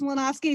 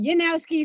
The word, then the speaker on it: Mlynowski: So I'm Sarah Mlynowski, kind of. Sometimes it's Mlynowski. Sometimes my father told me it's pronounced Yanowski.